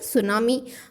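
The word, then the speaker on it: tsunami: suppose example लेते हैं अगर आपने एक वर्ड पढ़ा है सुनामी अगर हम उसकी स्पेलिंग की बात करें तो वो स्टार्ट होता है टी से बट जब हम उसे प्रोनाउंस कर रहे हैं मींस हम उसे बोल रहे हैं तो हम क्या बोलते हैं सुनामी हम ये तो नहीं बोलते टी सुनामी क्यों नहीं बोलते क्योंकि वहां पर टी साइलेंट है एंड ये हमें कौन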